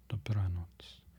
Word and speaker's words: dobranoc: Dobranoc. You'll see here a C at the end like that, with no accent over it. You pronounce ts, ts. Dobranoc, like the end of cats.